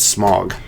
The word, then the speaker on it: Smaug: know they said in the movie but it's smog that really here's the problem it's not both